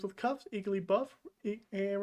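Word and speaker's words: Igglybuff: ah the pink babies pokemon name that rhymes with cuff is iggly buff iggly buff is a baby pokemon that is pink and buff rhymes with cuffs eagerly buff and rhymes with cuff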